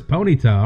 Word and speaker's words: Ponyta: looking for switch master you remember pronouncing po neeta as Ponyta and it's that kind of makes sense it's like pony and bonito which means like pretty in Spanish I could see that I pronounced it po neeta but it could be po neeta I actually don't know on it sounds better as Ponyta all right then I'll